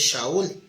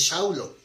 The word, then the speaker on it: Saúl: Porque Saúl, en la pronunciación es Shaul, pero en la pronunciación aramea es Shaulo.